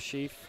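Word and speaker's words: Scheff: S-C-H-E-F-F, Sheaf. I guess.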